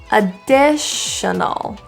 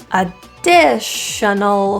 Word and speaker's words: additional: little uh uh sounds so the a is pronounced as an uh because it's in unstressed position a dish and both